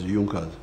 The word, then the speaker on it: Junkers: It is written Junkers, but they pronounce it as Junas.